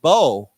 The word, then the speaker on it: bow: completely different meaning and it's pronounced in a different way it's called bow okay and what is